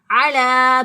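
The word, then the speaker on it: على: इसी तरह अरबी में भी बाज़ हरूफ साइलेंट होते हैं, तो यहाँ पर ये या साइलेंट है, तो यहाँ पर लाम खड़ी ज़बर ला इसको पढ़ेंगे।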